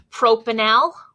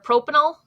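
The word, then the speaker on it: propanal: on carbon one now this would be pronounced pro Pinal or propanil it's very different from propanol because this has an OHA and that o is single bonded where here we have pro Pinal with a double bonded oh and the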